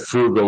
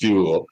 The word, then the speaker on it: Fugal: Yeah, you said frugal with the R. It's fugal.